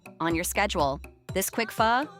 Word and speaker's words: Pho: Fu, pronounced fu, is an ancient Vietnamese tradition.